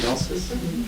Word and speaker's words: gnosis: Gnosis?